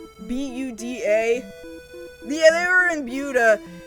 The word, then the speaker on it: Buda: It looks like it should be pronounced Buddha, but it's not. It's pronounced the text say B U D A.